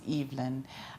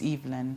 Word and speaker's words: Evelyn: so my name is it's a French name so it's pronounced EVN I believe evalene would be e v e l i n e mine is l y n so it's evand I see I see